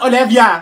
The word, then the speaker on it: Olivia: It's pronounced Olivia.